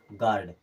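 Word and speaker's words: guard: गाइड क्या पढ़ेंगे गाइड जी यू ए आर डी यू के बाद में है यानी कि यू यहां से खत्म यू के बाद कोई भी बल आए हमेशा के लिए यू खत्म हो जाएगा अब इसे क्या पढ़ेंगे गार्ड क्या पढ़ेंगे गार्ड एक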